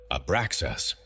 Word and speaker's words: Abraxas: 3 syllables rising through your body. Ah, beginning in your belly. Bra, resonating in your heart. Zas, completing in your head. Speak it slowly. Feel each syllable vibrate in its location before moving to the next. 1 breath. 1 continuous sound.